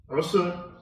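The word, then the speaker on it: عسر: So in the recitation, you have to be very careful how you say it. Usr and Yusr. Two different words altogether, very close in sound.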